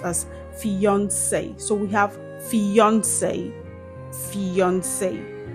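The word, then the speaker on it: fiancé: Did you know that these two words are actually pronounced the same way? Yes. These words are homophones. They have the same pronunciation.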